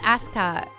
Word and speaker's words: Asuka: It's pronounced Asuka. Gosh, don't you know any Japanese?